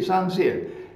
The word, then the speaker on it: Saint-Cyr: Saint-Cyr is pronounced Saint in English, S-A-I-N-T, but in French it's pronounced San, and Cyr, C-Y-R, Cyr, Saint-Cyr.